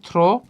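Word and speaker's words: through: গেলে আমরা সেটাকে বলবো থ্রু। কি বলবো, থ্রু। এটার উচ্চারণ অনেকেই করি থ্রো, এটার উচ্চারণ আমরা করবো থ্রু, রাইট।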